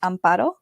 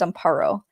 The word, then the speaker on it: Amparo: So my name, if you can roll your R's, is pronounced Amparo, and if you can't, then it's Amparo.